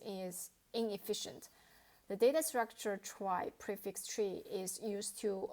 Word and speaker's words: trie: So try pron pronounce try. It's a tree like data structure that can compately store string. The name comes from the word retrieval which index it is designed for the string retrieval operations.